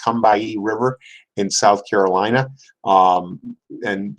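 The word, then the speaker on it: Combahee: area of known as the come by II that's pronounced come by a river in South Carolina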